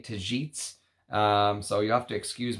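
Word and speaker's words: Tagetes: supposed to be pronounced tajits I believe I believe the G is pronounced like a j tajits so you have to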